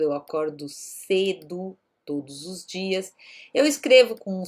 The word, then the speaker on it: dia: Ela vai ter um som mais parecido com o inglês D, né? Então eu normalmente digo dia. Que dia é hoje? Dia. Então é um D mais próximo do som no inglês. Algumas regiões do Brasil, principalmente, por exemplo, próximo de onde eu vivo aqui, no estado de São Paulo, as cidades de Taquaritinga, né? A região ali de São José do Rio Preto, eles costumam dizer dia, tá?